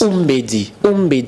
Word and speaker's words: Umbedi: Umbedi, il faut bien prononcer.